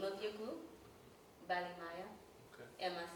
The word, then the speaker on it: Balimaya: So I want to start off with the name of your group, Balimaya. Okay. Am I saying it right? Balimaya.